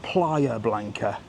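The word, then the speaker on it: Playa Blanca: It's called Player Blanca.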